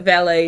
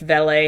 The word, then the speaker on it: valet: Yes, I do know that valet is usually pronounced valet. However, in the UK, they do pronounce it valet. And like the old school proper way that they do is it's a valet when you're talking about that.